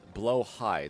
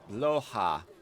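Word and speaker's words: Blåhaj: a decent fallback uh Blaha is blo high there's a circle above the first a swed Swedish is weird Okay bloa oh is that the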